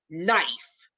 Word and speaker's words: knife: But when you take an English word like knife, it's like, how? How did they come up with the silent K?